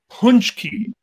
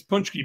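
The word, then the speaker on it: pączki: uh has to fast punch key that's it but it's spelled p what p-a-c-z-s-k-i or something oh yeah yeah it's punch key but it's basically a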